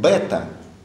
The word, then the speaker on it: бета: И буква, которую мы называем бета, она теперь произносится как «в», как с букв «в» у греков.